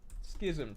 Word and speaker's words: schism: Schism pronunciation.